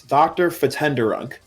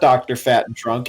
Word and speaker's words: Dr. Fatenderunk: For Skaluigi, the proper pronunciation is Dr. Fatenderunk. Yeah. It is not Dr. Fat and Drunk as you may be reading it. It's Dr. Fatenderunk.